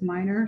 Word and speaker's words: Milner: said your name wrong it's written down milner but you said it was minor so i apologize for